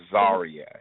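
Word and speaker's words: Czaria: It is spelled with a C. Yeah, so it's like a variation of Tsar, like a Russian Tsar, which is based on the word Caesar, which is the Roman emperor.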